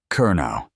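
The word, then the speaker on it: Kernow: Kerno. The K is important.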